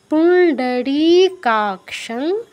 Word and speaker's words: পুণ্ডরীকাক্ষং: ইয়স্মরেত পুণ্ডরীকাক্ষং, মূর্ধন্য ড, পুণ্ডরী, এটা কিন্তু মূর্ধন্য ড সংযুক্ত, এই জন্য উচ্চারণটা একটু ভিন্ন শোনাচ্ছে। পুণ্ডরী বলা যাবে না, পুণ্ডরীকাক্ষং।